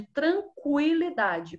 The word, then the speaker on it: tranquilidade: os sons são diferentes assinale as palavras em que a letra U após o que é pronunciada então nós vamos seguir o exemplo de tranquilidade quando eu consigo ouvir o ui ui Quando sai o